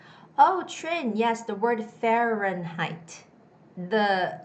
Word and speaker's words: Fahrenheit: syllable okay so and there are three syllables fe ren height if i cut out the syllables it's fair ren height and then when i read it put it all together it's fahrenheit fahrenheit the stress goes on the first syllable it's fahrenheit fahrenheit fahrenheit you don't necessarily have to say height it's fahrenheit sounds more like night like day and